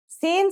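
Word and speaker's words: سين: let's start with scen scen sounds just like the English s it's very easy to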